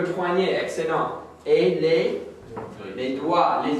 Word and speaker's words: doigt: excellent et les les doigts les doigts on ne prononce pas le G le doigt répète doigt